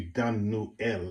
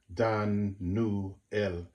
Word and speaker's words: Daniel: Daniel is one thing which is not even said correctly it should be Dan newel it should be three syllables Dan new L okay um but um